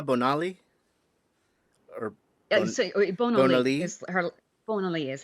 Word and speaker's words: Bonali: Bonali is how her last name was said. Her first name is spelled Surya.